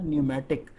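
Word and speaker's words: pneumatic: reservations controller candy न्यूमेटिक अच्छा इसको word सही बोल हैं इसको पैनलमेंट नहीं बोला इंडस्ट्री में कुछ लोग इसको एनिमेटेड भी बोलते हैं कि बोलते तो प्लीज साइलेंट इसका पेमेंट इन उसको बोला न्यूमेटिक ज्योमैट्रिक मिकैनिकल और इलेक्ट्रॉनिक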